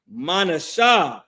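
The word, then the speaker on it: מנשה: Manasha is how you pronounce that in Hebrew.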